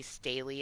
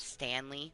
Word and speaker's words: Staley: Like they go to say Staley and it comes out Stanley because you see the way it's spelled and like your brain puts an N in there and it's like really brain like that's fucked up.